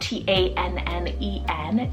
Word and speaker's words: Tannen: I then have Tannen, spelled T-A-N-N-E-N, Tannen.